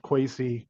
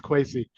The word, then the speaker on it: Quacy: Quacy, and it is pronounced Quacy. I got it wrong at first myself. so don't feel bad if you don't know how to say his name. It's Quacy.